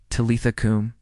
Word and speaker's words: Talitha kum: Talitha kum, pronounced Talitha kum. Talitha is tender and slow. Do not rush it. Kum is firm and grounded, rising from the belly.